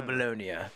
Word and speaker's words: Bologna: Bologna's oh honey I love that they properly pronounce it alone welcome to bolonia that's a place right is their place sounds